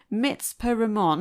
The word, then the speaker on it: Mitzpe Ramon: So I'm going to try and pronounce it right then, as per your pronunciation. Mitzpe Ramon.